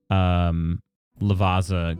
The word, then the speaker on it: Lavazza: Lavazza?